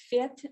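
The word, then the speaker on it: Фет: Oh, Fet, that one Russian author. Yeah. Actually, he wasn't Fet, he was Fet.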